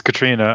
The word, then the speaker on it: Katriona: You corrected me on the pronunciation of it, because the spelling to an American looks like Katriona. It's Katriona.